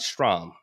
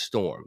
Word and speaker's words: Storm: Okay, Storm's name is not Strom. It's not Strom. It's Storm.